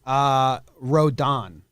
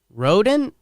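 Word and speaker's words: Rodón: Rodon. Rodent? I always said Rodon. Rodon. But I was listening yesterday. It's Don. Rodon. Yeah. The Don. I just checked the baseball reference pronunciation, and it is Rodon.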